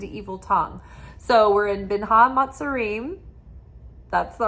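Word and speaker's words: בין המצרים: So we're in Binha Matzarim. That's the right way to say it, Binha Matzarim.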